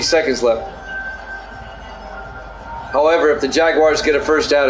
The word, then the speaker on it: Jaguars: timeout 55 seconds left I can't believe you used three syllables it's two syllables Jaguars not Jaguars third and two from